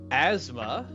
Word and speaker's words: asthma: Asthma, silent TH, really.